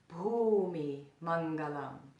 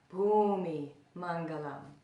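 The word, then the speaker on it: bhūmi maṅgalam: that I'll explain later there's only one count so the first word Bhoomi Hmong alone say that with me Bumi Mangala the second word you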